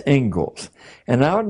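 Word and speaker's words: Inglis: the Engles lecture looks like English but it's pronounced Engles and I would like to read you the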